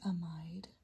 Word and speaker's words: amide: with am again pronunciation some people call this amide where I come from I learned it as amid so just depends on where you've learned it and either one is fine okay so now we've